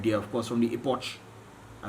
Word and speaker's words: Epoch: Right there, of course, from the Epoch. I pronounce it properly.